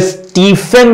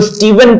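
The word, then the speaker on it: Stephen: symbol आएगा ऑफ फिर स्टीफन बहुत से लोग पढ़ते हैं तो इसको स्टीफन नहीं पढ़ा जाता इसको स्टीवन पढ़ा जाता है वी साउंड आता है तो ये भी एक नई सी चीज है स्टीवन नाम होता है ये बहुत से लोग स्टीफन कहते हैं इट्स स्टीवन राइट और इसी तरह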